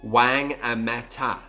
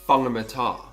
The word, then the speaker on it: Whangamata: On the other side of the country, for instance, you may think a place is pronounced Wangamata when it's actually pronounced Whangamata.